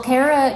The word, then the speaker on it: Caera: with the name it's impossible to pronounce Cara Kara call me anything except late to dinner well Cara Cara is is correct actually uh I I know